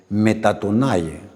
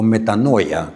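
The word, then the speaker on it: μετάνοια: Por eso es que la palabra arrepentimiento viene el griego metatonay o metanoya, como usted lo quiera pronunciar.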